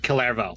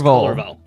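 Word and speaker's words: Kullervo: Calervo is one. Culliver. Thank you for proving my point. Cullervo. His name is Cullervo.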